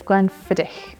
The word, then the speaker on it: Glenfiddich: Glen fidic and it's not Glen fidic it's Glenn fidic Glenn means Valley and fidic means deer so